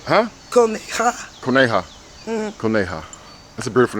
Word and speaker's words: Coneja: Because in Spanish, how you pronounce it? Coneja. Huh? Coneja.